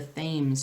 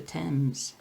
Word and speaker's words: Thames: The Thames is how we Americans might say it, but it's the Thames.